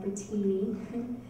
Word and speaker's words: Brittini: My name is Brittini, and it's Brittini with all I's, B-R-I-T-T-I-N-I, kind of like Brittini, but you say it like Brittini.